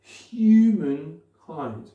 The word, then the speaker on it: humankind: Donc, qu'est-ce que ça nous donne? Humankind, humankind, humankind, humankind. Clairement, celle-là, c'est la plus importante.